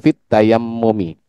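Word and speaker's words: في التيمم: Tadi Nah, ya nempel tapi sedikit saja fit tayammumi seperti itu. Seharusnya fit tayammumi.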